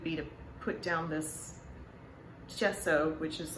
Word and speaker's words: gesso: So I am making gesso, which Google has told me is the correct pronunciation for that.